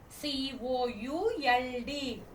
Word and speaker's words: could: C-O-U-L-D. Could. What is the pronunciation?